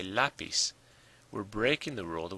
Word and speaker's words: lápiz: Now it ends in a Z, not an N or an S, so the stress should be on the last syllable. But we don't say lapis, we say lapis.